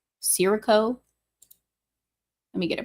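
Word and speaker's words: scirocco: think it just says C is it C Siro let me get a pronunciation here Shaco so shirro H interesting a hot dust ladened wind from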